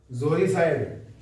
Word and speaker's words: uxoricide: Next word है जोरिसाइड। UXORICIDE जोरिसाइड। अब ये यू से शुरू है लेकिन बोलेंगे सर जोरी। यू क्या होता है साइलेंट होता है।